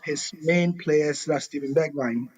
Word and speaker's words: Bergwijn: And actually, if you have not heard, one of his main players, that's Steven Bergwijn. Is it Bergwijn or Bergwijn? Well, how do they pronounce it? Bergwijn. Bergwijn, yeah.